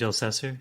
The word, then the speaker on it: Elsesser: Elsesser. Is that how you say his last name? Yeah, I believe Sage Elsesser. Yeah. Yeah, that's right.